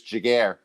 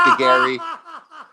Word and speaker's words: Giguère: And we're also going to make sure that everybody knows it's Giguère, not Giguère, not Giguère.